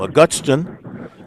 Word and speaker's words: Augustin: How do you pronounce his last name? Augustin.